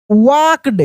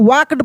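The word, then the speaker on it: walked: उसके बाद देखिए near a big tree he वॉक्ड। क्या पढ़ेंगे हम लोग? इसको वॉक्ड पढ़ेंगे, यानी L साइलेंट रहेगा, इसमें L का उच्चारण नहीं होगा।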